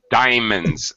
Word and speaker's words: diamonds: you're crazy man Diamond diamonds we we don't usually two syllables diamonds diamonds oh okay I was